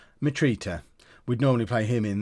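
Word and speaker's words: Mitrović: he'd play in right how do we say his name meat Rita it's at right meet Rita meet Rita we'd normally play him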